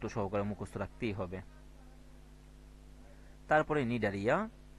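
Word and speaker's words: Cnidaria: মুখস্ত রাখতেই হবে তারপরে নিডারিয়া তো দেখো নিডারিয়া বানানটা দেখো এন আই ডি এ আর আই এ তার পূর্বে সি হবে সি নিডারিয়া নিউরোসাইট নামক বিশেষ বৈশিষ্ট্যপূর্ণ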